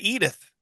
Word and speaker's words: Edith: could I pronounce it like Archie Bunker? Eat it. Eat it. Edith. Yeah, I did not know.